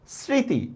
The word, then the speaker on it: স্মৃতি: স্মৃতি, দেখছেন মফলার উচ্চারণ হচ্ছে না, চন্দ্রবিন্দু দিছি, কত সহজ।